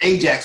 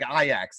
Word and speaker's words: Ajax: They pronounce it like a Y. It's like Ajax is they say it.